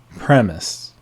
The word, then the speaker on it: premise: light green light two premise the e asylum at the end premise a proposition upon